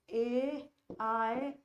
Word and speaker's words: Eyre: और इस एयर का प्रोनाउंसिएशन क्या है? इस एयर का प्रोनाउंसिएशन है AIR।